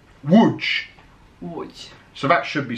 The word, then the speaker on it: Łódź: I told you, when you have a D and Z with the funny thing on top, it's J. Łódź. Almost, yeah. It's Łódź. Łódź. Łódź.